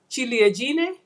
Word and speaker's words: ciliegine: And the C in Italy is pronounced with a ch sound, so that's ciliegine.